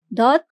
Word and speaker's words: ضاد: Dot took the shape of the initial position, although it's not at the beginning of the word.